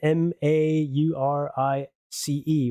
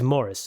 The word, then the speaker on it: Maurice: M A U R I C E. Right. And of course, I'm Belgian and and you know, we all automatically go to the French pronunciation.